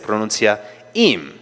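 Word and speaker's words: עִם: Esto se puede vocalizar con una jirec ah, que es como una i y se podría y entonces se pronuncia im y la palabra im en hebreo significa con,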